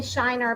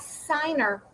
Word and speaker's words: Shiner: Shelley tried to say Shiner, but it sounded like Signer.